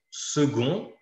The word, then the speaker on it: second: Or, si on fait une liaison, second va être prononcé avec un T à la fin, donc le même qu'à la fin de petite.